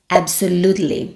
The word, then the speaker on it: absolutely: Segunda palavra, absolutely. Vamos prestar atenção na pronúncia? Absolutely. O stress está no lu.